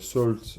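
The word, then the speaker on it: Sault: Alors, ça s'écrit S-A-U-L-T, Salt, si vous avez jamais entendu parler du groupe.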